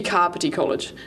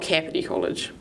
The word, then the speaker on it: Kāpiti College: stick with the crop let's be carpet ecollege not cavity college you can start off